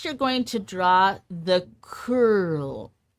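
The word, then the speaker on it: Coeurl: Next, you're going to draw the curl. C O E U R L. I didn't look up how to pronounce any of these. Congratulations. It's a cur.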